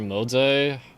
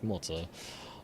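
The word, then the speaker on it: Moze: You're just not doing like there are budget options with Mo or Mos. Um, it's it's Mo, but Chinese pronunciation is I don't remember the tones, but it's like Moz.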